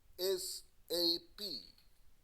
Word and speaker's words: ASAP: First, ASAP, ASAP or ASAP. ASAP, you can pronounce it by the letters only.